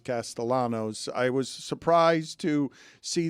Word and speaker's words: Castellanos: Uh, I was surprised to see Nick Castayanos, although he pronounces his Castellanos.